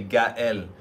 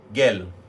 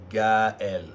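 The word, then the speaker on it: Gaël: That's why you say Gael. Because without those two dots, my name would be Gael.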